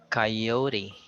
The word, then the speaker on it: coyote: Then we have coyote. It's the I sound in the first syllable.